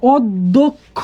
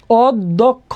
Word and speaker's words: অধ্যক্ষ: তাহলে দেখো অধ্যক্ষ, উচ্চারণটা কি হবে? অধ্যক্ষ, তার মানে উচ্চারণ দ্বিত্ব হবে, অধ, অধ। এরপর দেখো দ আছে, তাহলে অধ্যক্ষ।